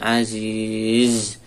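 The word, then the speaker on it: عزيز: Qawiyyun aziz. Aziz perhatikan zai. Cara membacanya alirkan suaranya.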